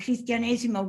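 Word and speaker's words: cristianesimo: di nancy el christianesimo and christianesimo rhymes with batesimo they lived before christianity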